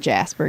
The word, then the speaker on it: Jasper: You have to pronounce it correctly. Jasper? Jasper. No, it's just Jasper, y'all. That's how Jasperites say it.